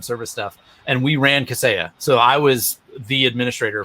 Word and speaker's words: Kaseya: So that's how you pronounce that, Kaseya?